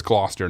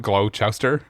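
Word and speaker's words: Gloucester: So, it's Glouester, not Glowchester. We were saying Glowchester.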